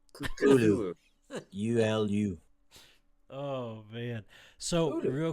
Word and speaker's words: Cthulhu: Are you setting me Cthulhu?